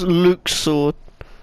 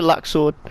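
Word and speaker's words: Luxord: who are you luxured so it's luke sword luke sword i can't i don't know i don't like the new way they pronounce his name i prefer luxor they're just easier and i i just like it more but i think they changed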